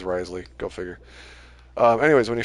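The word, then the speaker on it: Wriothesley: Like Risley, that's apparently the best way to say it is Risley.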